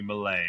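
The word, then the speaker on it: Méliès: Yeah, Oh yeah, Lumière, Melies, or Melies. S So is silent Lumière, in French, so it should be Malay or Malay.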